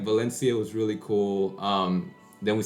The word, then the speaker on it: Valencia: It's like me saying Valencian Spanish is Valencia. They would say it like Valencia.